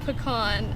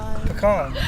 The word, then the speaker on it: pecan: Small as a pecan, and then on the shoulders. How do you say pecan? Pecan, not pecan.